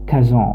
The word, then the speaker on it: Kazan: tatas avec sa capitale gazagnes qui se prononce kazan en français et obtient ainsi un